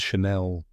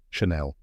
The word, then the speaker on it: Chanel: The first part is Shan, like the word fan. And the second part is Nell, rhyming with bell. Now say it with me. Chanel. One more time, Chanel.